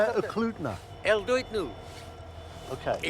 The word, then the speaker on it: Talkeetna: Talkeetna. El Duitnu. Okay. Talkeetna.